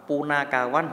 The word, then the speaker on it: Punakawan: Punakawan dibaca Puno. Ingat ya, A dibaca O, Punakawan. Tapi yang ini jangan dibaca kowon, tetap kawan ya.